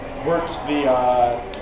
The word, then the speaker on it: wort: Wort's that sugary liquid that we made with the how do you spell it? W-O-R-T, but it's pronounced like W-E-R-T.